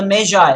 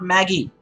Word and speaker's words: Magi: for the surprise endings the gift of the measure remember it's not Maggie is a story of